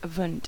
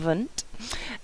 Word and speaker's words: Wundt: This is looking at Wundt. It is pronounced, the W is pronounced as a V because he is German, and the V in